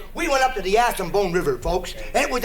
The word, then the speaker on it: Assiniboine: remember last year, we went up to the Assiniboine River, folks, and it was a great trip. Hold it. Where did you go? Up to the Assiniboine River. It was Wait a a great... minute. It's the Assiniboine, Killer.